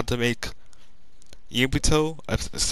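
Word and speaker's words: Yugito: And I don't know, I might be doing how to make Yubuto, that's how you say her name, the Two Tails Cherokee.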